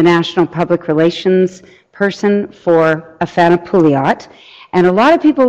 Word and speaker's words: Afana Pouliot: This is of Afana Pouliot.